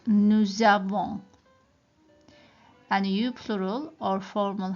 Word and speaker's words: nous avons: We don't say nous avons. It doesn't sound right. It's something called like liaison in French. So in certain situations you have to put two words together to pronounce it like these ones. I've got a consonant and a vowel, so we put it together like nous avons.